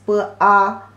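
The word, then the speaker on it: 八: The pronunciation is b a ba.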